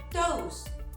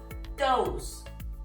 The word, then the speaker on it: Tous: Now, the pronunciation is "Tous" it is not "Tou", it is not "Tus", it is "Tous".